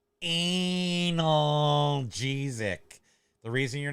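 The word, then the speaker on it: analgesic: watch wait hold up on the Wednesday it's pronounced anal jesic the reason you're not getting better uh is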